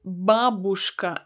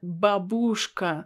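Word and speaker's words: бабушка: is babushka babushka and you heard me right it's babushka and not babushka i know that many foreigners believe that we need to put stress actually on a letter oh but it's not correct it's correct to say babushka babushka would you like some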